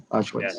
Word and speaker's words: Auschwitz: Así se pronuncia. Auschwitz.